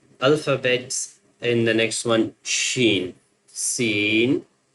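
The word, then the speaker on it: ش: The next one seen as we did in the alphabets, and the next one sheen. Seen sheen.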